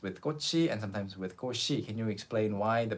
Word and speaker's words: 꽃이: 꼬치 and sometimes with 꼬시. Can you explain why the pronunciation changes to what's more common? Well, the standard pronunciation is 꼬치, 꼬치, because the 치읓 is there.